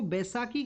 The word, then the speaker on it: बैसाखी: आप देखिए कि इसको बैसाखी के रूप से बोला जाता है, प्रोनाउंसिएशन बैसाखी के रूप से आपको देखने के लिए मिलेगा।